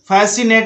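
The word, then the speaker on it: fascinate: Next है फैसिनेट में भी एस के बाद सी है, इसलिए सी साइलेंट है।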